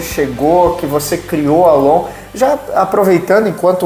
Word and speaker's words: LOOM: O nome em si, muita gente acha que ele é em inglês e acaba pronunciando Lum, mas não tem nada a ver com o inglês. Ele é long mesmo, long. É como se fosse um mantra.